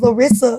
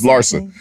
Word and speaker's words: Larsa: Here, but what I'm saying, I thought it was Larissa or something. It's Larsa. But I just want to know, like, is she getting at Scottie?